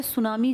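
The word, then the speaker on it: tsunami: Eruption था मैं तो सुनामी की बात कर रहा हूं ना सुनामी जापानी भाषा का शब्द है जिसमें टी साइलेंट लिखते हैं ऐसे बोलते हैं। लिखते हैं टी सुनामी बोलते हैं सुनामी।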